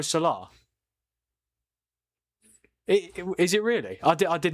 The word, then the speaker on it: Salah: The H is silent, yo. Is it? What? So it's Mo Salah?